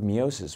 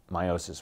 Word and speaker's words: meiosis: do but usually they Reserve miosis which is or meiosis which is the correct pronunciation they use that primarily